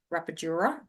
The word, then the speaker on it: rapadura: And the other one that I liked in the past was Rapadura, which is a more organic sugar. Rapadura. Okay. That's how it's pronounced.